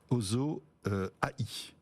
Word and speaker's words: OSO-AI: Voilà, passionnant tout ça, et ça s'appelle Ozo AI. Absolument. Comme ça qu'on prononce.